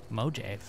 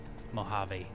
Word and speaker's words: Mojave: who actually thought I didn't know how to pronounce mojive it is mojive right I'm just kidding it's freaking Mojave I'm a freaking Indian you know kind of